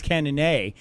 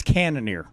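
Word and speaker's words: Cannonier: cannoneer a cannoneer axe I thought it was cannon a yeah because it's French right no no I was mispronouncing it's thinking I'm some kind of like a badass no no it's it's it's cannoneer okay hold Jared cannoneers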